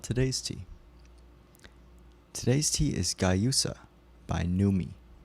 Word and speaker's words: Guayusa: Guayusa, pronounced Guayusa. Oh, it's Guayusa.